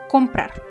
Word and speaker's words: comprar: Es decir, ejemplo del verbo comprar. La sílaba tónica del verbo comprar, ¿cuál es? Comprar se divide en dos sílabas. Comprar. La sílaba tónica es la última, por lo tanto, en